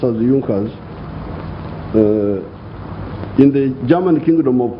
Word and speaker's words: Junker: the junckers it's written in junkers but it's pronounced as junkers in the german kingdom of prussia one of